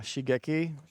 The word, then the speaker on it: Shigeki: Okay, how do I pronounce the name of that card that you got on the screen? Yeah, Shigeki. Shigeki.